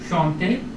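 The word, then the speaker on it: chanter: तो इसको हम प्रोनाउंस करेंगे शौंते, शौंते, शांते नहीं शौंते, ओके। शौं, क्योंकि एंड यहाँ एंड पे आ रहा है एक सिलेबल के, शौंते, ये हिंदी वाला शांते नहीं है, ये शौंते है, ओके ओके।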